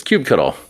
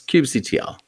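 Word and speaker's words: kubectl: of my time here it was Cube cuddle Cube cuddle like it was like an action I thought it was a verb it's time to cube cuddle but I've learned since that it's Cube CTL correct ding ding ding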